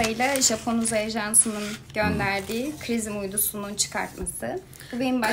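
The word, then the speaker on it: XRISM: Son gönderdiğimiz işte NASA ile Japon Uzay Ajansı'nın gönderdiği Krizim uydusunun çıkartması. Bu benim başka. Krizim diye mi okunuyor? Zrizm diye mi okunuyor? X-Rizm. Hala tartışıyoruz.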